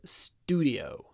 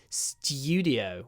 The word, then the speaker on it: studio: British version stud sto Studio the American version is studio studio so they say something like s dud something like that studio stud St St but we say studio with a studio in